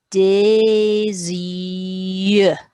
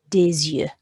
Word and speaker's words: des yeux: And the word for some eyes, we're going to pronounce the S because Y is a vowel in French. So it's going to be des yeux, des yeux.